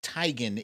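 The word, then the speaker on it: Teigen: is chrissy tygan and i just learned that tygan is how she pronounces her last name this is chrissy tygan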